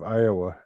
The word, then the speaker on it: Iowa: So what is the correct pronunciation of Iowa? Is it Iowa? No, Iowa. Why do some people say Iowa? Iowa. Probably trying to pronounce the A, I suppose, there.